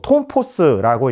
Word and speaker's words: tf: 아직까지 제대로 파악되고 있지 않습니다.이 이 140 TF 톰포스라고 읽는데요.이 140Tf짜리를 화성 18형과 19형에 장착했다.